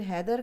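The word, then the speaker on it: Heather: होता है यहां पर और जैसे हम वेदर कहते हैं लेदर कहते हैं इसी तरह हैदर की स्पेलिंग से है ह ए ए टी ह आई आर लेकिन हैदर को पुकारा जाता है लेकिन ये औरतों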